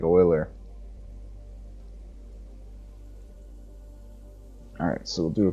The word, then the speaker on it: Euler: shader again to use Euler angles or Euler angles how do you I mean I forget how to pronounce this yeah boiler boiler okay so I add it right like oiler alright so we'll do